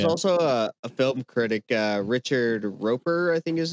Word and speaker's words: Roeper: Yeah, there was also a film critic, Richard Roper, I think is how you say his last name. He published an assessment about it, and he It's Raper. No, it's Roeper.